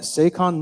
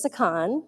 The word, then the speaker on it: Sakon: Hi, my name's Sakon, rhymes with Shaka Khan. No, you're good. I like to reference, usually when I tell people who are much younger, they don't know who Shaka Khan is. So I always say, it's either Sakon, rhymes with pecan, so if I'm also nuts.